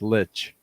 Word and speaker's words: lich: the scariest things there but you say it like you say like there's a t in there so like lich i've never played um